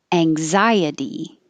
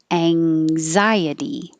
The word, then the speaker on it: anxiety: Anxiety. The AN spelling is actually ANG because you're putting your tongue up in that NG combination position. Anxiety.